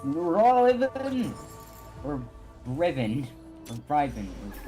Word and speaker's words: Riven: Anything that ends with that is always even. So it's Riven.